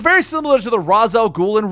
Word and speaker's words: Ra's al Ghul: It's very similar to the Ra's al Ghul and Ra's al Ghul situation.